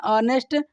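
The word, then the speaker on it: honest: जैसे ऑनेस्ट, एच से शुरू होता है लेकिन उसे पढ़ते हैं ऑनेस्ट, तो वहाँ पर हम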